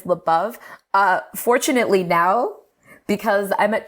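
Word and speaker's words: Labov: I want to know, how do y'all say his surname over there? Lebov. Okay. I have in the department, I have heard Lebov. Mm-hmm. In the department. But it seems that the dominant pronunciation is Lebov.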